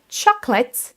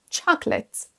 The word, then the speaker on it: chocolate: Donc pour bien prononcer ce mot, il faut déjà prononcer seulement 2 syllabes, chocolate, chocolate. Attention donc ne pas dire chocolate. La deuxième chose, ça va être qu'il faut accentuer la première syllabe, chocolate, chocolate. Et vous entendez la prononciation de la deuxième syllabe, on ne dit pas late, mais let, let.